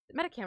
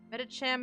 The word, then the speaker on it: Medicham: Metacam or Metacham? I'm gonna look it up. Medicham may be a combination of meditate and champion, so it's a cham. Okay, so I am pronouncing it incorrectly.